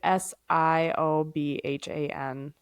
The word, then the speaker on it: Siobhan: S I O B H A N uh Siobhan.